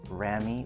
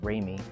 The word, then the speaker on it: ramie: And it is pronounced Ramie. Allegedly, according to my research.